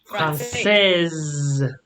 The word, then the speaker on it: française: You don't pronounce the S, but française. You pronounce the S.